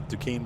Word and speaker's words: Duquesne: uh like oh the Duquesne like port de cane or whatever the Duquesne bridge in Pennsylvania that's like like a Duke on sore something like that spelled really weird they pronounced in Duquesne like well that makes